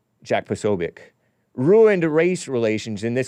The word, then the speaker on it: Posobiec: It looks like Posobiec, but it's pronounced, I guess, Posobiec.